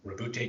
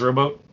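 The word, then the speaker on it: Roboute: Rabute Guillemot. I'm glad you pronounced it. I thought his first name was Rowboat.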